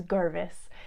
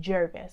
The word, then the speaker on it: Girgis: were one my father his name is Girgis and it's about ger vis and occasionally people will argue with him about how his name should be pronounced because it's ger they for some reason say it should be Gervais and when I say